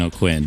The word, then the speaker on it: Aucoin: though so there's that my family says O'Quinn which is pretty normal but I think if we were actually kjun or French we would say like oan oh right totally that's